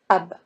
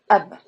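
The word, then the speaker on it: أب: So alif in the beginning of the word, we treat alif as consonant. So we read alif as a, and remember here we are pronouncing hamza, as I mentioned before. So in this case, you read this word as ab, ab.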